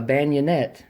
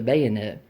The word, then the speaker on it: bayonet: but he calls this he would call this a bionette when it's we know it as a bayonet and so you know